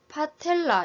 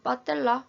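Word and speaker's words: patella: 무릎뼈 또는 슬개골이라고 하고 파텔라 이렇게 읽어야 되는데 병원에서는 빠텔라 이렇게 읽기도 합니다. 경상도에서는 좀 더 센 발음을 더 유행하게 사용하고 있습니다.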